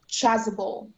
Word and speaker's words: chasuble: Chasable? Yes. Can I have all the information, please? Yes. The word can be pronounced chasable.